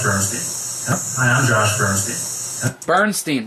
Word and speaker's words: Bernstein: Bernstein, that's what it was. Not Stain.